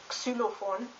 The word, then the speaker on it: Xylophon: X is pronounced like KS, X, and a German word for that would be xylophone, which means xylophone.